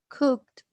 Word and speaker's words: cooked: Karina, the first one, how do you pronounce the first one? Cooked.